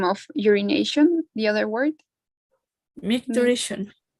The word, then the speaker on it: micturition: I want to know the pronunciation of the synonym of urination, the other word. Micturition. Micturition.